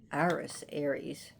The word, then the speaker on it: Ares: Ares, we pronounce him Ares here, but his Greek name is Ares, was jealous of Aphrodite in Greek, and he went to slaughter Adonis.